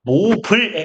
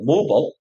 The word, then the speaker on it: mobile: 그 통상 그 미국식 영어의 얘를 읽는 방법은 모블에 가까워요. 모버. 그리고 이제 이걸 모바일이라고 정확하게 읽는 나라가 있어요. 인디아. 오토모바일 이렇게 읽거든요. 오토모바일.